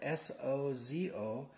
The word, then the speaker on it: sozo: And the word is spelled S-O-Z-O, sozo.